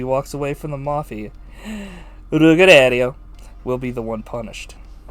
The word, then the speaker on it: Ruggiero: Ruggiero.